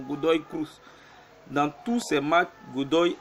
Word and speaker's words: Godoy Cruz: Je vais dans Goody qui est 13e. Je vois que Goody a aussi un problème de défense. Dans tous ses matchs, Goody a... Godoy, excusez-moi, je prononce mal son nom, Godoy Cruz.